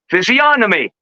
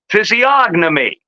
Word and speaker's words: physiognomy: words are my business both pronunciations are correct in the UK it is most often pronounced physiy without the G sound phom in the USA it is mostly pronounced this is not completely because you can see people here even were some were one some were the other but here we mostly say physiognomy the thing is it's